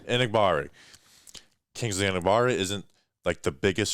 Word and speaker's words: Enagbare: And I know you know how to pronounce the name. Enagbare.